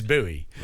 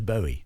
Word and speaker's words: Bowie: Jim buoy no that's the correct pronunciation is buoy but he thought it was Bowie um so everyone everyone's